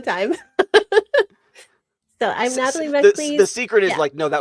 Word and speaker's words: MacLees: here today with Natalie MacLees. I said it wrong. I said I wasn't going to say it wrong. I said it wrong. MacLees.